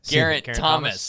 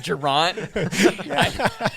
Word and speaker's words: Geraint: Geraint Thomas. Oh, he said it right. Instead of Geraint.